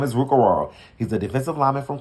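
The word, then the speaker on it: Orhorhoro: Now, he said you do not pronounce the H's in his last name, so I pronounced it correctly. So if you need to know how to pronounce it, it's Rook Ororo.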